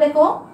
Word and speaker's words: দুঃখ: তারপর দেখো চন্দ্রবিন্দু, বিসর্গ এবং চন্দ্রবিন্দু, এগুলোকে বলা হচ্ছে কি? অনুচিহ্ন। কারণ বিসর্গ তো দেখো, যদি আমি বলি দুঃখ, বিসর্গটা কিন্তু দ্বিত্ব উচ্চারণ হয়, কেমন?